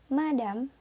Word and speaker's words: madame: Yang kedua dibaca madame. Madame.